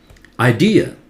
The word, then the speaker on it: idea: This one, idea, D louder, and last A is always pronounced as a, that schwa sound. Idea, not idea. Idea, okay? This one, say it.